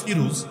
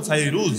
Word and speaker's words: ফাইরুজ: তার নাম সাহাবী ফাইরুজ বাংলায় বলে ফিরুজ কিন্তু মূল উচ্চারণ হলো ফাইরুজ সাহাবী ফাইরুজ রাদিয়াল্লাহু তা'আলা